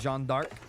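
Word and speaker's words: Jeanne d'Arc: of the map uncovered it's pronounced Jean dark is that so Beaver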